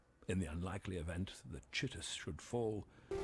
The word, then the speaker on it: Chitus: emperor I'm not kidding his name is actually pronounced chitus you can find some graffiti in the actual game and it's read aloud to you and it's pronounced chitis Captain Alaris remain in the warehouse until I